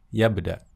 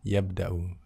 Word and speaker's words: يبدأ: Yabda يبدأ. atau yabda'u ya. Yabda atau yabda'u ya. Pembacanya boleh dimatikan karena tidak ada sambungannya di sini ya.